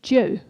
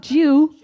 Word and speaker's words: Dieu: No, not Jew. Not Jew. A Jew is a member of the Hebrew family, like me. Je suis juive. I'm Jewish. The word Dieu pronounced, put your lips like this, Dieu, and it means game in Paris.